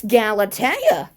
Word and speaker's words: Galatea: So Galatea acted like she she Neptune in like got her name wrong. But the thing is he got it correct. That's Galatea.